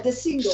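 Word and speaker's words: deSingel: ask you about, and I'm going to try and pronounce it properly, De Singal. Am I correct here? The studio, this gorgeous structure, this building. Is it called De Singal or something like that? Yeah, De Single. Single.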